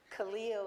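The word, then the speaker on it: Kahlil: I just went online to find out how to pronounce it properly. Khalil in Arabic means friend.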